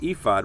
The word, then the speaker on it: ephod: You pronounce it ephod.